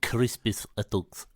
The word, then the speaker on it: Crispus Attucks: You should actually say it like this, which is funny to say because Crispus Attucks.